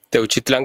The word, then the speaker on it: Teuchitlán: que está pasando en Teuchitlán. Decime si lo pronuncié bien. Techitlán, correcto.